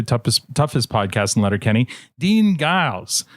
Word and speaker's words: Giles: Dean Giles, how are you now? Good, and you? Not so bad. It's Giles, by the way. It's a soft G, like those French over in Quebec.